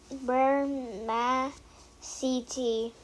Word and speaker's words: spermaceti: You say it like this, spermaceti.